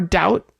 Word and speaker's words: doubt: consonant like friendship friendship but in the case of debt or doubt you're not going to ever pronounce that B even if you're saying it slowly.